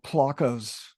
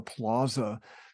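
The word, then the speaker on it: plaça: Conchita corrected me um it's p-l-a-c-a rather than a plaza so in Catalan uh I think it's more of a placa with a rather than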